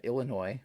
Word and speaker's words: Illinois: I should have known that because here in Iowa, well, you have Illinois, which I believe is the S is silent.